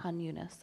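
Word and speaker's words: Khan Yunis: let I asked Joe to help me with pronunciations but these are new there it's Raa Rafa hunas that's right hunas okay uh these conflicts happened in 1956 during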